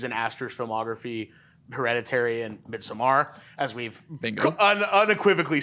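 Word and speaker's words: Midsommar: It's a really interesting thing to say because the first two movies in Asters's filmography, Hereditary and Midsamar, as we've unequivocally said, that's how it's said.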